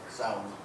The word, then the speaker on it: Samhain: the pagan feast of, forgive me if I mispronounce this, since I'm not of Celtic origin, Samhain, how do you say it? Samhain.